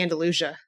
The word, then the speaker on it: Andalusia: pronunciation of, Andalusia. Andalusia. Yep. Yeah, it's definitely Andalusia.